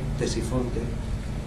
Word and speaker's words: Ctesifonte: Ctesifonte se escribe con C, Ctesifonte, pero como no hemos encontrado la puerta original, pues para que tuvieran una idea de qué estamos hablando.